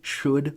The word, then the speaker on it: should: And what's super weird about these L's in could, should, or would is listen to me saying them. You don't pronounce the L's.